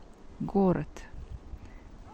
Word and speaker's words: город: If letter D stays at the end of the word, then we pronounce T. Город.